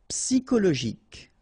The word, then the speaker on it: psychologique: Psychologique. Okay, remember at the end you've got this K. Okay, so ic, and then Y is pronounced like I. Psy, and then it's an exception here because normally we should pronounce it sho, okay, but then we pronounce it ko. Psychologique.